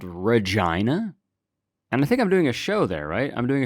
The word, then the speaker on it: Regina: Yeah, I'm doing a show in Regina. And I'm being serious, that is how you pronounce it if you've never heard of it.